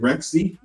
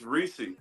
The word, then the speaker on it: Reese: And if you want to follow him, is how do you pronounce it? Rexy? It's Reese. Reese and MBB Reese.